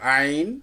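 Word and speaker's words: ع: আইন, এই আগা, সামনের আগা নিচের দিকে সুস্থভাবে থাকবে, আইন, শুধু গলাটা একটু শক্ত করে বের হবে।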